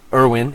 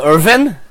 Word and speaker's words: Irwin: Irwin. And he says, Irwin. Steve. That's less awesome. Irwin? Steve. You want me to call him Irvin? Because it could be the W is pronounced like a V? No.